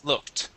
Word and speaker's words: looked: Yes, we pronounce the ED like a T. Looked.